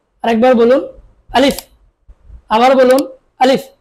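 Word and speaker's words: ا: আলিফ, আমার সাথে বলুন আলিফ। আরেকবার বলুন আলিফ, আবার বলুন আলিফ। আলিফ উচ্চারণটা সবসময় শক্ত করে আদায় করতে হবে।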